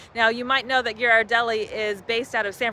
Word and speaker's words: Ghirardelli: of the reasons we originally got hooked on geard Deli and it is pronounced geard Deli not Gard Deli which a lot of people say um is